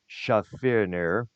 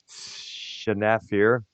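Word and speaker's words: Schaffner: last now some author Nicholas Shafer shaf what's his name shafir I think that's how it's pronounced my bad did wrote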